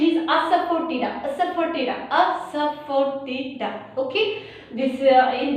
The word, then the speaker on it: Asafoetida: That this is the pronunciation is Asafoetida, Asafoetida, Asafoetida.